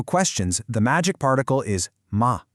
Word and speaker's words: ma: One last very important pronunciation point here. If you look at the pinion for ma m a, you'll see there's no tone mark above it. That's because it's pronounced with a neutral tone. It's very light, short, and unstressed. It just sort of tags on to the end of the sentence without having its own strong tone.